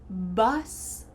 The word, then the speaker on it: bus: bus, boss, bus, boss. We have a short U here, bus.